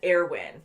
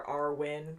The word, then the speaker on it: Erwin: say rhys and then airwin because it's spelt almost like armin so we've been saying like armin or our win but i think it's air win air win and hunch